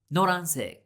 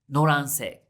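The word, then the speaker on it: 노란색: say yellow in korean yellow reminds us of our friend nora whose face turned yellow so yellow in korean is noran se after that she offers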